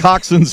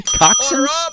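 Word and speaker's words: coxinha: Coxins. Well, on a uh coxin here. You have plate of coxin. Well, if you see how it's spelled, you'll never guess that.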